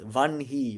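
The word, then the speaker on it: वह्नि: these vic lineages or vani as opposed to vani. Vanhi means fire but it's vanhei or braha.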